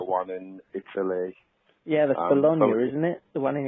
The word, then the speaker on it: Bologna: Yeah, that's Bologna, isn't it? The one in Italy. That's right. Yes. I'm glad you pronounced it properly because I would have said it wrong.